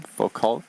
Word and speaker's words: Foucault: Foucault, am I pronouncing it correctly?